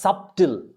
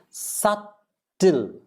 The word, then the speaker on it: subtle: Many people say this as subtle. No, it is subtle. Sut. S-U-T-L-E. Subtle.